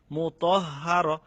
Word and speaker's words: مطهر: যেমন নাকি মুতহ, ত হারে দছে তহ, তারপরে হার, মুতাহহার। তো এখানে দুইটা হরফ যদি একই ভাবে উচ্চারিত হয় মানে একই সাথে, তাহলে শব্দটা একটু উচ্চারণ করতে দেরি করতে হবে। মুতাহহার, মুতাহহার।